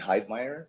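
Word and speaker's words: Heidmeyer: and Hyde Meer.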